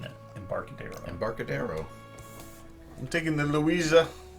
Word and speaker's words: Embarcadero: all right so embarcadero at first i thought it was had a spanish pronunciation that way but i watched renegades uh gen con preview of this and they just said embarcadero so keep it simple the designer publisher of